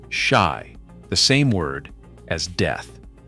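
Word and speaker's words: 四: In Japanese culture, the number four is pronounced shy, the same word as death.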